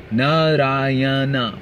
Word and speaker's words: Narayana: Narayana, four syllables.